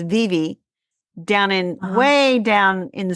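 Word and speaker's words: Vevay: little tiny town called VV Indiana VA a v a y pronounced Viv down in way down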